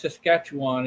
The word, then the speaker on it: Saskatchewan: that how you say it Saskatchewan yeah it's Saskatchewan and they got some big deer up there